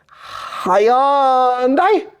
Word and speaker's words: Hyundai: The correct pronunciation in Korean for Hyundai is Hyundai.